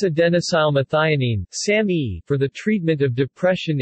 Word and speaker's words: SAMe: marketing name Sammy also spelled same or same pronounced Sammy or Sammy it was introduced in the u.s.